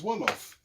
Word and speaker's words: Wolof: There's only one thing that rhymes with jollof in the entire world language, and that is Wolof.